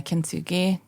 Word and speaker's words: kintsugi: you say it right Ki think so yeah kintsugi the Japanese art of repairing things in a